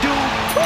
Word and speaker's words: Dupri: Michael, it's pronounced Dupri.